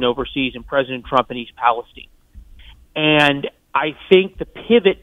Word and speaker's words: East Palestine: I did not know that President Trump was going to East Palestine. By the way, five stars for pronouncing it correctly.